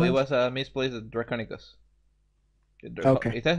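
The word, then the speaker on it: draconequus: something on no it was a misplaced a draconus is that how you pronounce it whatever it may be yes that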